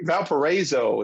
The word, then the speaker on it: Valparaiso: Stop, Drop, Rewind is from, let's see if I get this right, Valparaiso, Indiana. Valparaiso. It's like a long A sound.